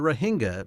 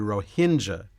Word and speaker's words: Rohingya: household word in fact when I looked it up how to pronounce it I learned that in America they usually call them the Ranga but in country they call them the ROA Hinda and we'll start with